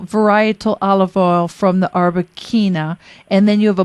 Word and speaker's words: Arbequina: I never know how to pronounce it. Quina or Quina? It's Arbequina, which is originally from Spain.